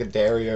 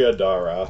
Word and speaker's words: Adara: did you say i i think i said like a daria or something sorry adara yeah her name is spelled a-d-a-r-a i'm terrible with names